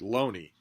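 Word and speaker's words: Looney: Thomas Loney, but we've been told reliably that his family pronounced it Loney.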